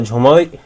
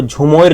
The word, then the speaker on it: झूमर: असम के कई सारे वर्ड्स जो है बंगाली से इन्फ्लुएंस्ड हैं। इसके कारण जो है ये झूमर को झुमोर कहा गया।